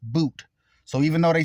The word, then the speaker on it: Bout: His last name is spelled Bout, but it's pronounced Boot.